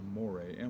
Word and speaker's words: mores: call cultural mores a more a mor more a it looks like more just pronounced a little bit different so there's an accent right a little slash over the e it means the things